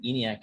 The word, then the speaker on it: ENIAC: In fact, I think ENIAC is like 30, 34 pages. Oh, wow. That's how you pronounce it. The whole time, ENIAC. I'm like, how do I say this? Brainiac.